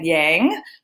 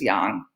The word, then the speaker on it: yang: words yin and yang most Americans call it yang but the proper way to pronounce it is Yong Qi is a Chinese